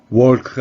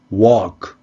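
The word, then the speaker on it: walk: 우어 걷다 우어 걷다 워크 에서 이해는 발음 되지 않습니다 그래서 월 크 아니라 워크 하고 바로 해야 되죠 y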